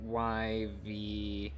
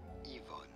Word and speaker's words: Yvonne: In French, this is normally said as Yvonne. Yvonne. Yvonne. In English, consequently, this is normally pronounced as Yvonne. Hello, Yvonne's?